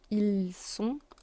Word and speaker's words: ils sont: Then we have ils sont in L and elles sont, ils sont. T is silent. It's just the sound on.